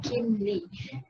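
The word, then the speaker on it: Kim Li: So as we can see, it is spelled as K-I-M-L-I, so Kim Lee.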